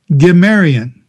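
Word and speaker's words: Cimmerian: spelled, instead of G-I-M, it's now spelled with a C, and the C is a hard C like in cat, C-I-M-M-E-R-I-A-N, Gimerian. And the Gimerian were also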